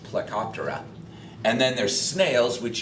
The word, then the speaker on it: Plecoptera: these are trout candy and that order is pronounced plecoptera and then there's snails which you're all familiar